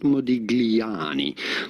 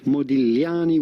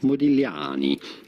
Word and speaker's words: Modigliani: say Modigliani, certainly not Modigliani. Modigliani would be the closest approximation. You do want to stress and emphasize on the A, however, Modigliani.